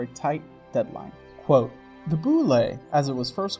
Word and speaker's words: Bulette: Whether it’s an oddly french looking name - it’s pronounced boo-lay, not bullet - or the fact